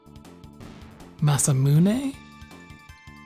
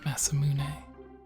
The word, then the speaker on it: Masamune: Oh yeah, so the sword, I believe it's actually pronounced Masamune?